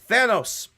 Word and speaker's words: Thanos: I'm just saying say it right. It's Thanos. There is no reason that you should be saying Thanos.